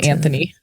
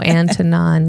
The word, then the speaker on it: Antonin: I was saying Anthony. Oh Antonon.